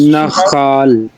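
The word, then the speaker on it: נַחַל: Nakhal. Let me hear a firm accent on the first syllable.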